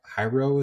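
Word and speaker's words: HYROX: they're called high hyro hyro is I think how you pronounce it h y RX have you heard of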